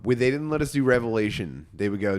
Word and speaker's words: Revelation: Um they didn't let us do Revelation. They would go not right now. They did but you know not to say Revelations.